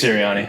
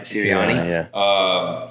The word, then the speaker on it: Sirianni: Nick Sirianni. Sirianni.